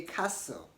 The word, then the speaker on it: castle: say Apostle apostle the same way you don't want to say Caster Caster say castle castle okay Newcastle not Newcastle